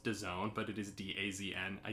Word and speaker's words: DAZN: and i hate it i hate that it's pronounced design but it is d-a-z-n i just i don't